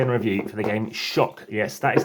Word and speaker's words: Xok: Today we're going to set up, play and review for the game Shark. Yes, that is how it's pronounced.